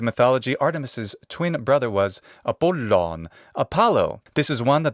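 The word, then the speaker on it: Απόλλων: of it so poon how do we say this with a modern Greek pronunciation well just take away the geminate sound of the Lambda and you get apollon and there you go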